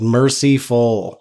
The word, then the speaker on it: Mercyful: I hate that pronunciation, but it is accurate. Mercyful.